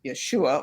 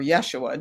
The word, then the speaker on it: Yeshua: name of that person was Yeshua or Yeshua, depending on how you want to pronounce it.